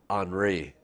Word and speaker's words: Henri: this one i call fun because this is anri it's spelt like henry kind of but it's pronounced